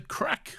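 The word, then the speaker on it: craic: Who This is from Isaac, or Unlucky Hunter, who says, "What's the crack, lads?" Which I believe is Irish. Yeah. Because it's spelled Craig. Because it's spelled Craig. Yes.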